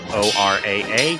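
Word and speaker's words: Oraa: So, since this is Ora, spelled O-R-A-A, if it was Japanese, it'd be pronounced Ora.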